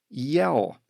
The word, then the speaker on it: iel: This year, however, the famous French dictionary included a new pronoun in its online edition, yell, spelled I-E-L, and pronounced like yell in English.